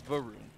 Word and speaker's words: Varun: So I would say his name is Varun. Is that correct? No, it's Varun. Varun? God dang it. Like a car saying vroom.